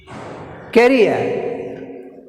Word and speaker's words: career: Next, career, career, career, ria, career, career, career, ria. Here ria, this is second syllable, ria. So ria, R is put stress mark on R.